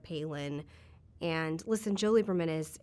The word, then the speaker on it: Palin: They were saying Palin instead of Palin.